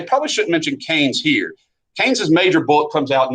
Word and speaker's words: Keynes: shouldn't mention Keynes here keynes's major bullet comes out in 19 that's how you pronounce this guy's name uh this fella right here uh is John Maynard Keynes not Keens uh but I'll mention